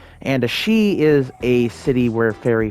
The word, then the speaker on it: Sidhe: Even though it's uh spelled Sidhei, which I usually do say, it's apparently pronounced she. And a she is a city where fairy folk live.